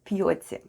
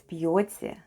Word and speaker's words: пьёте: The first sound is p, then we have soft sign, and soft sign makes the preceding letter sound soft. So we have p, then we have yo, t, and ye. And all together it's пьете, пьете.